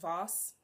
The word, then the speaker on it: Voss: I think it's pronounced Voss, right? V-O-S-S, like a boss, you know what I'm saying?